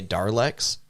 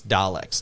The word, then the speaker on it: Dalek: it's d-l-d-a-l-e-k-s um but some people will say darlex there's no r in there so it's daleks technically but they're a very